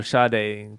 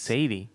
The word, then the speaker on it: Sade: I always want to say Sade. Yeah. Sade. I'll do some Sade. Helen Sade Adieu. How do you get Sade from Sade? At least Sadie. It's just how they pronounce it.